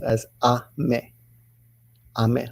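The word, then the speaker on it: 雨: means rain now usually that kanji alone is pronounced as a me I mean like American I'm a I'm a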